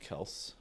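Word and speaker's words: Kelce: Like the Kelseys, they were like, it's actually pronounced Kels.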